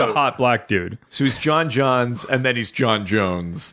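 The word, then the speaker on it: J'onn J'onzz: it the first time so his Martian name is like J ' oh N and J oh it's like J ' onn said he's John John's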